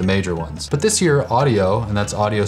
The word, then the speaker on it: Audiio: But this year, Audiio, and that's Audiio spelled with 2 I's, reached out and became a